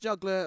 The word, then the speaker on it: Juggl_r: And it's not just Juggler like how you'd spell it normally. It's Juggler with an underscore instead of an E.